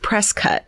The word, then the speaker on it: Prescott: As long as I can remember, my grandma has lived in the small town of Prescott, Arizona, and then says pronounced Prescott.